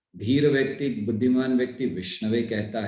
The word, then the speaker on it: विष्णवे: है, ये सही है, लेकिन जब विष्णु की बात आती है तो ओम विष्णाय नहीं कहा जाता, ओम विष्णवे कहा जाता है।